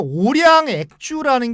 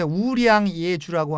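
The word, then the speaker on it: 五粮液: 그리고 이제 오량 액주라는 게 있는데 중국 발음은 이제 우량 예주라고 하는데 쓰촨성의 대표적인 명주입니다.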